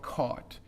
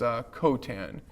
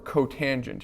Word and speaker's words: cotangent: And this is certainly not cot. It's cotan or cotangent if you want the full term.